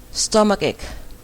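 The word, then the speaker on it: stomachache: a c h e neeg ปวด คอ ค่ะ stomach EG stomach s t o m a c h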